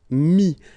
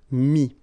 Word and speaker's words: mis: And then mettre, to put, so e-t-t-r-e will give you this is, mi. Same thing here, final s is not pronounced, mi, okay.